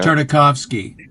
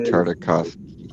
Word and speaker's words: Tartakovsky: Tartakovsky. Andy Tartakovsky. Yeah, very difficult to pronounce.